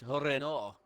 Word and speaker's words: Renault: It's French, isn't it? It's Renault.